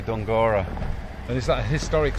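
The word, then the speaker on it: Dunguaire: um this is called dunguro castle it's spelled don guerra d-u-n-g-u-a-i-r-e but all the locals say don gora and is that a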